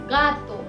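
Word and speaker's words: gato: अगर खे ए और ई के पहले है तो उसकी प्रोनाउंसिएशन होगी ख और सभी केसेस में होगी ग। जैसे खेनते, खेनते और गातो, गातो। तो पहले एग्जाम्पल यानी कि खेनते में हमने हे को ख बुलाया है क्योंकि वो ए के पहले है, और दूसरे एग्जाम्पल में हमने उसे ग बुलाया है क्योंकि वो आ के पहले है।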